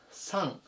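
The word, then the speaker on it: son: はい、では次いきます。346 番サン。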